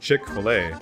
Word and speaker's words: Chick-fil-A: had the standard spelling though is pronounced chick-fil-a we also now knew